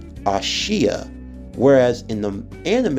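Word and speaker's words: Aashia: and how it's spelled in the manga it's actually spelled a-a-s-h-i-a and it's pronounced as ashiya whereas in the anime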